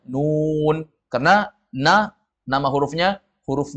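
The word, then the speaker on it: ن: seperti misalnya di dalam Quran nanti ada huruf na jangan kita baca na Tapi bacanya Nun karena na nama Hurufnya huruf nun nanti jumpa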